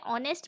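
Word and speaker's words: honest: You were not ऑनेस्ट person. अब देखिए, ऑनेस्ट की स्पेलिंग एच से स्टार्ट जरूर होती है पर उसे ऑनेस्ट पढ़ा जाता है, एच साइलेंट होता है उसमें।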